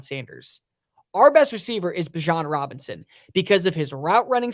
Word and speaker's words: Bijan Robinson: I think that Bijan Robinson, my apologies, because that's how you say his name, not Bijan, is going to be